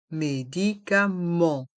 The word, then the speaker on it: médicaments: pharmacien la pharmacienne le pharmacien la pharmacienne les médicaments les vitamines les médicaments les vitamin dans le mot médicament le E et le N se prononce en médicament et le T et le S sont muet